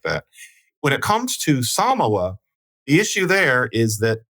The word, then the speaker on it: Samoa: maybe there is but saying Samoa would be because that's how you say it in the native language as opposed to it